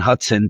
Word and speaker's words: Hutson: Hutson. Don't spell it wrong. It's not like the river. It's Hutson.